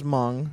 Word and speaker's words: Hmong: all right oh yeah Hmong peoples rolling Vietnam War come on place pronounced among ok yo is a silent H there yeah and there oh